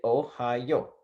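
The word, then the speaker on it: おはよう: So if we put those together, you'll say Ohio. Now, if you say that really fast, Ohio, right? It almost sounds like the state right next to Indiana on the map, Ohio, right?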